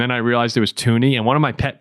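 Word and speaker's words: Thuney: been so an annoy listening to people say thy because I used to do it and then I realized it was tuny and one of my pet peeves in sports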